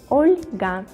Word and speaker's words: Olga: Oscar, Olga, Olga, with the soft pronunciation the letter L, Olga.